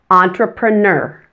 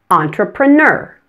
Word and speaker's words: entrepreneur: pronunciation for entrepreneur well the difference is in the ending many people say entrepreneur just pronouncing the last syllable the N er simply no entrepreneur to pronounce the sound